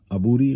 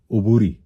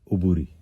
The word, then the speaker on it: عبوری: عبوری غلط تلفظ ہے، درست تلفظ ہے عبوری. آپ لغت بھی دیکھیے گا، لغت میں عبوری ہے، عین پہ پیش ہے. کیا ہے؟ عبوری.